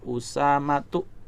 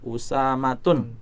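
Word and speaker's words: أسامة: Maka dibaca usamatu. Salah kalau kita membacanya usatun.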